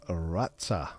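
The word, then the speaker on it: rață: The T with a comma underneath and is pronounced rata.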